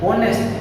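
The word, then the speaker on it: honest: को बोलते कैसे हैं, इस वर्ड को एच ओ एन ई एस टी, इसको हम कैसे बोलेंगे, ऑनेस्ट, राइट, ऑनेस्ट।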